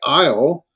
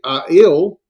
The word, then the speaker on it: aisle: When you say certain words like aisle, well, AI is two letters, but you don't say aisle. You say aisle. Pronounce the two letters as one sound, and that's a diphthong.